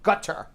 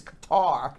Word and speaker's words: Qatar: adults meanwhile two studies both in israel and gutter even though it's pronounced you read it as qatar guitar that's exactly how it cut this is